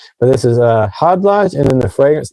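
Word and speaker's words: Khadlaj: It's pronounced Hod Lodge to the K silent, but this is Hod Lodge and then the fragrance name is island.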